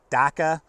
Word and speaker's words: DAKA: or so on the Magpul, I believe you pronounce it DAKA, series of pouches.